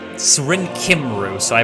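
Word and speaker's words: Cymru: it's supposed to be cummery but it's serene kimroo so i pronounce it kimbrough kim ghost so kim ru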